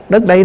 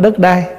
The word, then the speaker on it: đất đây: Đất đây nè, đất ở đây nè, chứ không phải đất đai. Mình nói riết nó thành trại thành cái chữ đất đai, chứ đúng ra là mình phải đọc là đất đây, tức là đất này chúng ta đang ở.